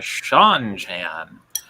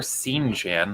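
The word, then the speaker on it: Seanchan: Sean Sean Sunshine yeah these are the Sean Chan or scene Jan that's how I pronounce or that's how I pronounced it in my head when I first read the books hmm how's it spelled uh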